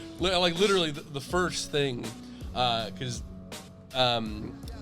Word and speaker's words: Jaime: George, it's Jaime.